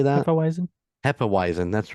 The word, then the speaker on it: Hefeweizen: is it how do you say that otherwise Hefeweizen that's right which I I've learned from Brother